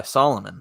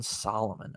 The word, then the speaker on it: Salomon: or not copying but is being influenced by Solomon well I've got to tell you that on